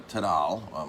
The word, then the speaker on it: taralli: Taralli, or Tadal, my grandmother used to pronounce them Tadal, which is a different spelling as well.